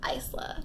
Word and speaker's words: Isla: was Isla, and then I thought it was Isla, but it is Isla.